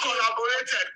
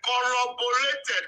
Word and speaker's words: corroborated: Not collaborated, corroborated. The way I pronounce it, corroborated.